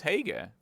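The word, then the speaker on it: Haigha: happy his name is hega it's pronounced to rhyme with May ha I love my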